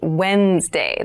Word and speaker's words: Wednesday: day of the week but keep in mind this is pronounced wednesday there's a d there